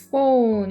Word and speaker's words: phone: A smartphone 이렇게 하면 ph는 F 발음이라서 phone 이렇게 읽어주셔야 돼요.